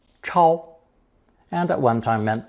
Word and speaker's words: 超: This character is pronounced first tone, 超, 超, and at one time meant to jump up in response to being summoned.